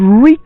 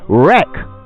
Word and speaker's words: wreak: It's important to stay calm because panic could wreak more havoc than the virus itself. Which brings us to today's word, wreak. W-R-E-A-K. Wreak. Many people pronounce it as wreck, but that is an entirely different word with an entirely different meaning.